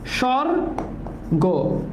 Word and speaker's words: স্বর্গ: এটা কিন্তু পরীক্ষা প্রশ্ন স্বর্গ এটার উচ্চারণ কি হবে স্বর্গ তাহলে স এর সাথে বফালা তাহলে বেশ সর গ ঠিক আছে স্বর্গ ওকে স্বর্গ বুঝছো তাহলে ধ্বনি এখানেই প্যাচ